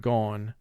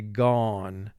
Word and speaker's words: gone: represent its long sound if that were the case the word would be pronounced gon but we don't say gon we say gone and therefore there is